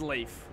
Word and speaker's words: Leif: It's pronounced Leif. In this scenario, I'm gonna pronounce it Leif. L-E-I-F.